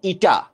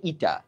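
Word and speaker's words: η: কর্মদক্ষতা বা ইফিশিয়েন্সি এটাকে প্রকাশ করা হয় একটু স্টাইলিশ এন এর মত করে উচ্চারণ ইটা তোমরা ত্রিকোণমিতি পড়ছো ওখানে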